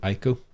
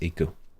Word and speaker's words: Ico: It's like it's pronounced like Eco. The hit fucking game on the PS2 by that guy who did the other ones. Yeah, but some people called it Ico, but I think it's Eco.